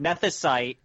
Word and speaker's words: Nethicite: Nethicite. You say it right. Nethicite.